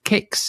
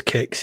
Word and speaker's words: Qix: It's a successor to Kix. Is that pronounced how it's pronounced? Kix? I think I've always pronounced it as Kix, yeah.